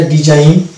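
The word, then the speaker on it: design: অনুরূপভাবে এটা ডিজাইন, align, campaign, এই যে শব্দগুলো আমরা দেখতে পেলাম শব্দের শেষে জিএন আছে এবং এক্ষেত্রে কিন্তু জি কে আমরা সাইলেন্ট পাচ্ছি।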